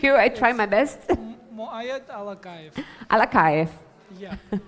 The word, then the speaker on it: Muaed Alakaev: is yours thank you dear you actually have pronounced my name better than most of the people thank you I try my best muayad alak alakay yeah correct okay so the presentation hold the